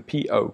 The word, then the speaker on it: po: You have the po. The po, if you want to pronounce it exactly as you would in English, the P-O, po.